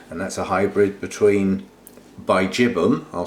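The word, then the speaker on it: bigibbum: that's a hybrid between Bijibum, I'll say it properly, and then I'll say it how I like to say it, Biggie Bum, and that's been crossed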